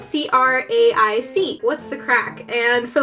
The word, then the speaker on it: craic: It's spelled C-R-A-I-C.